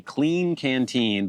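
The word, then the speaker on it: Klean Kanteen: So, this is a clean canteen, but it's spelled annoyingly K L E A N K A N T E N. Clean canteen.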